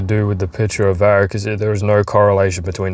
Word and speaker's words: varicocele: pronunciation I hate having answers to all my questions. varicocele varicocele Uh is an enlargement of the network of the veins in the scrotum.